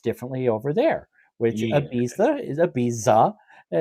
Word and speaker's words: Ibiza: I've always for years pronounced it Ibiza, like the improper pronunciation of it, and I think I think I've even heard Armin say Ibiza.